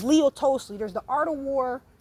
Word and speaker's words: Tolstoy: It's Leo Tolstoy.